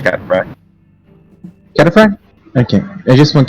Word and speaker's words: cataphract: Pretty sure it's cataphract. Cataphract? Okay. I just want to know how the fuck you pronunciate it. Yeah, cataphract. Yeah, you're pronouncing it right.